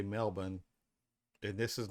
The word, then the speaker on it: Melbourne: Angel Gober Goan H y'all don't say melbour you say Melbourne and this is not